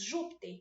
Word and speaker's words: Júpiter: próxima três nós temos Júpiter é uma proparoxítona trissílaba certíssimo olha aqui para vocês ver se fosse o acento no Terra seria oxítona Se fosse no pi seria paroxítona mas é nojo Júpiter